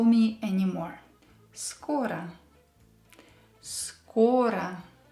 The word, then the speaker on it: Скоро: So here we have O, which is stressed, and we are not allowed to change it. We still will pronounce it as O. And we have O, which is not stressed, so we will pronounce it as A.